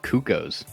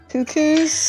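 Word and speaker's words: Cuccos: losing his cupcakes and i think it's pronounced cuckoos that you haven't all called it cacoos your whole life what no it's what's a texture like it's like cuckoo like cuckoo bird i would know i'm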